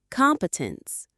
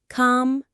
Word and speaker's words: competence: The stress is on the first syllable. Competence. Competence.